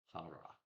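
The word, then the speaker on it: Pharae: Remember, I said it to you guys so I didn't have to pronounce it. P H A R A E. Farra.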